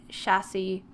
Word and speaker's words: chassis: is it plural okay so it is actually chassis and it's one but it's spelt like plural okay cool um thank